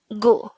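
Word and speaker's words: 구: Next, the Sino-Korean version of number 9 is gu. Again, it's gu. This is composed of just 1 syllable.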